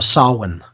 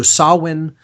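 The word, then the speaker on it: Samhain: It's called uh sawin. Okay. So, sawin is that's spelled s a m h a i n or Halloween or all h hallows eve is October 31st.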